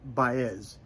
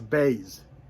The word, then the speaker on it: Baez: gore fantastic joan bayes everybody pronounced her name baez it's a baze but she let it go